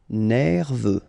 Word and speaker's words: nerveux: Nerveux, final X not pronounced, E-U, E, V, nerveux.